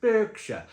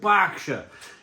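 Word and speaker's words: Berkshire: IT'S NOT CALLED BURKSHIRE, IT'S CALLED BSHIRE." It's an A. It's an E that's pronounced with an A.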